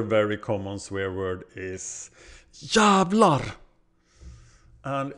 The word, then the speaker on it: jävlar: can be used to build longer expressions It's pronounced jävlar ja you didn't think that you probably thought it was like javlar or something but it wasn't Here's A sentence